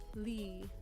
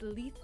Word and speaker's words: Lethe: Because normally, Lee. I always thought it was Lethe. But it's Lethe. Like Lee.